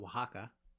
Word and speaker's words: Oaxaca: to the english x it can also take on an s sound or an h sound as with the mexican state of oaxaca by replacing o's and